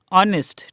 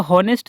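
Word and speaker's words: honest: ऑनेस्ट। ठीक है? वह ईमानदार है। इसको ऑनेस्ट नहीं पढ़ना है। ठीक है? इसको ऑनेस्ट पढ़ना है। एच साइलेंट रहता है।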